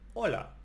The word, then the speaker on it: hola: When you see hola, you don't say the H. You say hola.